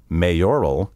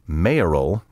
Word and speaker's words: mayoral: In recent years, I have heard numerous broadcasters say mayoral and electoral.